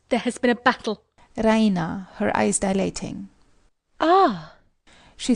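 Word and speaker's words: Raina: she pronounces it the Reina with the stress on the EE Reina she goes to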